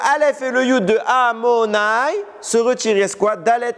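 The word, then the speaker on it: Adonai: Le nom d'Hachem, Yudke Vavke, comment on le prononce? On ne le prononce pas Yudke Vavke, on le prononce Amonai.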